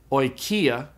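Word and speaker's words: οἰκία: Omicron iota is pronounced oi, like in the word oil. And so the Greek word for house is pronounced oikia, oikia.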